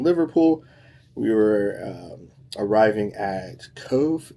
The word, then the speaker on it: Cobh: After leaving Liverpool, we were arriving at Cove, Cobh, but it's pronounced Cove, Cove.